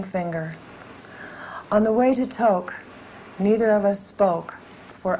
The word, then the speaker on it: Tok: on the way to toke neither of us spoke for hours i almost in this poem spelled it t-o-k-e that's how it's pronounced it's spelled that wouldn't